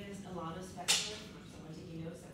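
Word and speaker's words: Ilana Spector: You can't pronounce that, it's me. My name is Alana Spector.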